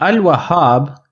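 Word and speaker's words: الوهاب: assar and Al wahab in Al wahab I am pronouncing the lamb I am saying Al so I will look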